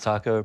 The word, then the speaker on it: Taco: My name is Taco, pronounced exactly like the Mexican food.